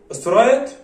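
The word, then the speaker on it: straight: بيقول لنا واحد سترايت الجي اتش لا تنطق يا جماعة، سترايت لاين ميثود.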